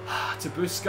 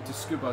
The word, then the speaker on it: Tsukuba: Tabuska, I've missed you so much, or Tsukuba.